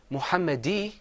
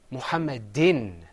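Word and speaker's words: مُحَمَّدٍ: that's two customers so instead of saying mohammed ii we're gonna say muhammad in say with me muhammad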